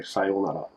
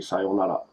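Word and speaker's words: さようなら: If you say in the English way it's spelled, sayonara, right? Because there's an R at the end. But yet again, R's are not pronounced as R's, are pronounced as L, so it'd be sayonara. So sayonara. You do, sayonara. You see that? Sayonara, simple, just not sayonara.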